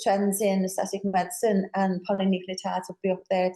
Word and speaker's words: polynucleotides: in aesthetic medicine, and polynucleotides will be up there at the top. So what are I never know how to say it. Poly what? Polynucleotides. Polynucleotides. Nucleotides. Yeah, that's it.